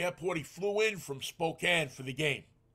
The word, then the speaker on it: Spokane: He flew in from Spokane for the game. I think that's pronounced Spokane. No, Spokane to him.